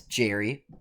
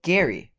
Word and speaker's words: Gerry: has ever said it because the man who gerrymandering is named after Elbridge Gerry isn't pronounced this Gerry but is Gary but on a more